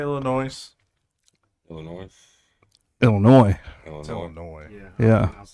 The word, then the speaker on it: Illinois: potato potato that's what I've heard potato potato ill noise how long we actually been on tonight noise